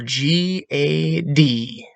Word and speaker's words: Gad: for g a d g a d cannot properly be pronounced as ADD with a G g a d remember Airy the a carries a ah or ah so Gad can only properly be pronounced as odd with a G time with a G